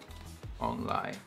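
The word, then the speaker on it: 王梨: In Taiwanese, pineapple is pronounced ong lai, which is similar to the phrase for the arrival and prosperity and fortune.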